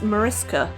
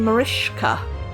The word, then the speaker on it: Mariska: It is Mariska, which was great fun to grow up with. No one could pronounce it. I got called all sorts, like Babushka, Marushka, Manushka, you name it, but anything but Mariska. Or they would call me Marishka, with a sh in it, and it's got no sh.